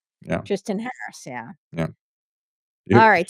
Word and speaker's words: Tristan: Yeah, it's like, Tristan, right?